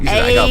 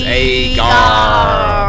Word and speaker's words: agar: Oh, you said Agar, but it's Agar.